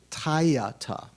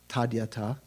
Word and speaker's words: tadyata: There's a convention, if it were a Tibetan word, it'd be pronounced te, or te, tayata. But in Sanskrit, it's tadyata.